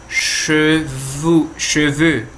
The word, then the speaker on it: cheveu: Então, cheveux tanto pode ser no singular quanto no plural na pronúncia. A escrita que vai mudar, que uma é com X e a outra não.